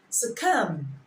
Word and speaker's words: succumb: Number 9, letter U, as in succumb, succumb. The B there is silent.